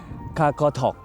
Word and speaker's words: Qaqortoq: แดนนี่ อยู่ ที่ เมือง กากาทอก นะ ฮะ ใช่ ครับ ผม ออก เสียง ไม่ ผิด นะ ฮะ คาคาทอก สำหรับ ใน เมือง คากาทอก